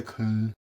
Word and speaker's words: Köln: spelled the way they spell it is K O with the umlauts L N. So spelled Köln, but the way they say it with the accent and then the way they pronounce the O with the U with